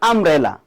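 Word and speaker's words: umbrella: আর দেখেন যেমন আমব্রেলা ইউ দিয়া শুরু হইছে। কিন্তু উচ্চারণের ক্ষেত্রে কি ইউ ঠিক হয়েছে না?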